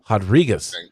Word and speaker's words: Rodriguez: 39 durn versus rodriguez because she is brazilian so we're gonna pronounce the r as an h rodriguez uh saturday october 9